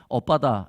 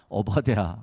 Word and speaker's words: 오바댜: 이거 발음을 잘해야 됩니다. 오빠다 이것이 아니라 오바댜.